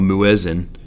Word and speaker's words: muezzin: But in the older times, or maybe a smaller mosque, there would be this person that would go up there, a muezzin. That's how you pronounce that, muezzin, would stand on the balcony